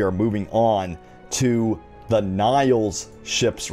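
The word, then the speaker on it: Nihil: uh pieces of concept art showing off the niles ships and again the niles if you're not familiar with them uh the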